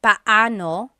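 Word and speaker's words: paano: It's technically pano. Pano when there are two vocab or when there are two vowels together, you say them separately. Pano.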